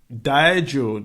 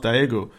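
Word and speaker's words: Diageo: asking what's Guinness Guinness has been Guinness the Dio is how it's pronounced dieo the Irish firm or the foreign firm has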